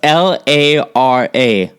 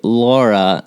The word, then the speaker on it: Lara: on our phone call that um Americans always mispronounce her name it's l a r a Lara right right but people like me always say Laura and I don't remember exactly when or where